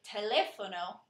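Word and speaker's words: teléfono: spelling variation is the word telefono where you pronounce it telefono instead of having a pH as it does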